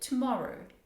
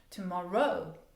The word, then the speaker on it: tomorrow: listening for those and don't give equal equal equal stress on everything especially we seldom give a stress to the last syllable tomorrow that would sound real a little bit weird okay tomorrow tomorrow maybe